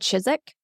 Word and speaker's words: Chiswick: I'm glad you said Chiswick. Save me that embarrassment later. Yeah, it's spelled Chiswick, but we live in England, so we just randomly choose which letters we're going to enunciate.